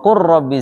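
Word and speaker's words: قُل رَّبِّ: Lam dengan ro ya. Wa qul rabbi. Gimana bacanya? Wa qur rabbi zidni ilma. Lam ketemu ro itu dibaca idgham nanti.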